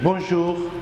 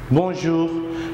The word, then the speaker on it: bonjour: Bonjour. Bonjour. So I remind you, in French we have nasal sound like M or N. We normally pronounce in our nasal area.